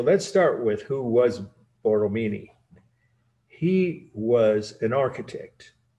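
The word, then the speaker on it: Borromini: a-g-n-e is the title the architect's name is boromini b-o-r-r-o-m-i-n-i bortomini 1657. so let's start with who was boromini he was an architect not a sculptor or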